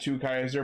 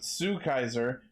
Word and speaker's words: Two Kaiser: Because when they first revealed him, they said Two Kaiser, but then I saw people saying it was Sue Kaiser. But I checked the TV Asahi website, and it actually is spelled TWO, Two Kaiser.